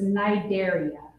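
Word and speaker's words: Cnidaria: of hard to pronounce it's a silent sea so it's Nigeria Nigeria see and these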